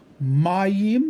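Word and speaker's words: מים: Mayim, again, emphasis on the first syllable, water.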